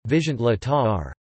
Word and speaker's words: viszontlátásra: Primary stress is always on the first syllable of a word, as in Finnish and the neighboring Slovak and Czech.